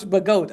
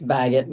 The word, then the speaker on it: Baggett: I'm sorry, Coach Bagot. I'm sorry, that was Coach Crumpton. Sorry about that. It's Baggett, but that's okay.